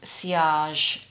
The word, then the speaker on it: sillage: pronounced sillage.